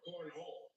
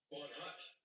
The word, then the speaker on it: Cornhut: is Lester Cornhut or Cornhole?" "Cornhut," I replied, but the translator function paused. There's a T sound on the end of it.